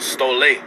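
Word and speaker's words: στολή: were a long clothing in the greek is pronounced stole all right it's pronounced stole it says it says an equipment in clothes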